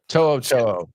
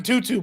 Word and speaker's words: To'o: He had To'o on Kicking It with Kunkel, and they were talking about all the weird pronunciations of his name. He said he's gotten Tutu before.